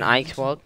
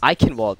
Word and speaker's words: Eichenwald: First game is an Eichwald. Eichenwald. Okay, I pronounced it wrong.